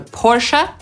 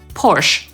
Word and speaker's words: Porsche: Pomimo poprawnej angielskiej wymowy /ˈpɔːrʃə/ wiele osób czyta tę nazwę jako /pɔːrʃ/, więc po prostu się nie zdziwcie.